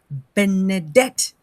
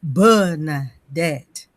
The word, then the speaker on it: Benedict: that a lot of people don't know how to pronounce Benedict, they in their mind they say Bernette. I say that's not my name.